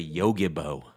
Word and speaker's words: Yogibo: Yogi, Yogi. like the bear, bo, B-O. And I'll tell you, my sloth-like behavior has become even more comfortable Yes. to the Yogibo.